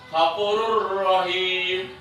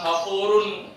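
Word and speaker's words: غفورٌ رحيم: Ketika kita sudah pelajari idgham bilahuna, jumpalah huruf ini dibaca jelas. Bukan hafurun, bukan. Hafurur rahim, seakan-akan dia bertasdid. Nah, ya.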